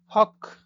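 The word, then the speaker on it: hoch: হক, ও আছে তাই খয়ের মতো উচ্চারণ হবে, হক।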